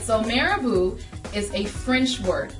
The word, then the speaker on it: marabout: all of the time what is marabu spiritual healing or as a lot of you say Mar about or Maro because it's a French word you don't know how to pronounce so we're going to